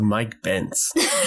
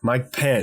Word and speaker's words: Mike Pence: I know Joe Rogan who the hell is Mike bence why are they so fed up about this